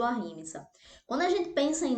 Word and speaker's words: ahimsa: E aí, quando a gente pensa em ahimsa, em não violência, na verdade a pronúncia eu acredito que é ahimsa. Aí, brasileiro, né, a gente acaba falando ahimsa.